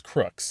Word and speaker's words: Crookes: was to call YouTube one of those YouTube pronunciation channels told me it's crooks okay so I'm going with crooks and that's what we're